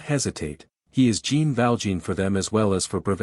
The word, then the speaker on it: Jean: and have called himself Gene Matthew he goes to ovia the local pronunciation turns jean into Chan he is called Chan